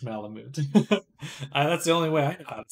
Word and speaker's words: malamute: I saying it like Malamute that's the only way I'd say it is that Malamute Malamute Malamute like you mute the sound in Malamute Malamute Malamute I don't know